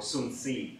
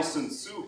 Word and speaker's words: Sun Tzu: 2,500 years ago, a very interesting person lived with the name of Sun Tzu, or Sun Tzu, I think as it's pronounced correctly.